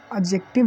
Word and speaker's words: adjective: ठीक, एडजेक्टिव नहीं, इसमें जो एडजेक्टिव लिखा जाता है इसमें डी होता है ना, प्रोनाउंसिएशन में साइलेंट होता है।